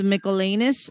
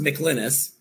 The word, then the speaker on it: McLynas: okay now we have james michelanis and i hope i'm pronouncing that correctly for pinellas county sheriff he's